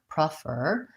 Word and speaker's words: prefer: for many unstressed syllables the most important thing is that those first syllables in both those words are short and reduced and so they have a reduced vowel which can either sound